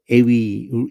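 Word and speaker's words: εὐ: 에하고 위라는 두 가지 발음을 동시에 하면은 에이 이렇게 하면은 동시에 하면은 에이 이렇게 해가지고 에위, 얘네들은 위라고 발음을 하거든요. 이걸 또 우라고 발음하는 게 아니라.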